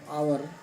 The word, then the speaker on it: hour: This word hour, why it has H before it and the H is not pronounced?